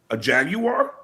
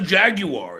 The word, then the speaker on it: Jaguar: Yeah, the car is a jaguar. It's not a jaguar. It's a jaguar.